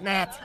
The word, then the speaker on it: gnat: You know, we both work for the king, but compared to me, you are a gnat. There's a G. Silent. It's Nat. Are you calling me a gnat?